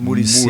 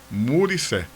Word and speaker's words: Muré: Mur, talvez, né? Se foi uma coisa assim, ele disse: "Não, pronuncie da forma que é, sem medo de errar, muré."